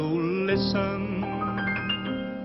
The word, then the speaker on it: listen: you'll never hear you will see it glisten but no matter how you listen you'll never hear that silent t not even in a whistle not even in a